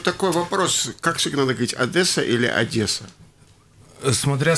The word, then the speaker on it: Одесса: лампа жирности вот такой вопрос как сигналы ведь одесса или одесса смотря с какой суммы мы приехали к нам в одессу вообще правильно одесса но чего-то города с фразой от дессау вас